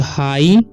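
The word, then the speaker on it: high: जाएगा ह आई का हो जाएगा आई तो हाई ठीक है जी साट हो इस पढ़ हाई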